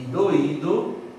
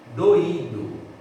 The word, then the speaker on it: doído: A diferença entre doido e doído é um acento. Percebeu o homônimo? Doido, doído. É a mesma palavra na escrita, a sílaba tônica é diferente, o significado é diferente,